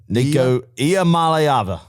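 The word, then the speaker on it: Iamaleava: more time one more time here we go n malava perfect all right we're if you break it up into three syllables yep Mal AA Mala but no uh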